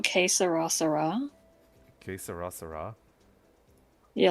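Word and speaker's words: Que será: Okay, I'll do how it's pronounced. Que sera.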